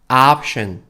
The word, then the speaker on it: option: option, option. 여기서 션 할 때는 해서 sh 발음 넣어주셔야 돼요. 옵 아니고 앞이에요. 앞. 우리 앞에 있다 할 때.